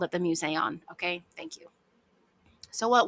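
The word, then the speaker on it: Mouseion: thing I'd really like to call it the museon throughout this episode because that's what they called it but every time I see this word because of the way it is spelled I want to pronounce it mouson and that's just not correct so I'm going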